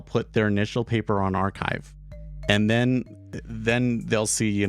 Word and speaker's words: arXiv: And it's ARXIV, but the X is chai, right? So it's pronounced archive, right?